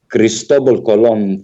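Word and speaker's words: Cristóbal Colón: is to do with the cristobal colon family is is how you say it in spanish and i would appreciate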